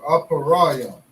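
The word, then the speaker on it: אפרים: And how we say Ephraim in the Hebrew is a parium or aparayam. Select apara. Okay. Aparayam. Aparayam. Select. Okay. And we spell that with an a pa, a ra, a ya, and a ma.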